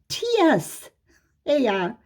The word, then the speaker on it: Tsar: It's spelled C-Z-A-R-I-S-T sometimes, and sometimes it's spelled T-S-A-R, Tsar, I-S-T.